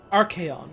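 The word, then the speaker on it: Archeion: Archaeon, that's how you pronounce it, okay.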